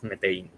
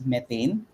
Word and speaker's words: Metain: Even the PH team, we used to read it as methane.